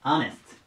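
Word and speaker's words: honesty: 次ですねえっとスタート HO から始まるのでまほって読みたくなるんですけどえこれ読み方気をつけてください最初あですあに近いネスてなりますアネスでま自分キー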